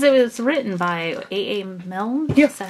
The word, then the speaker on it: Milne: Milne?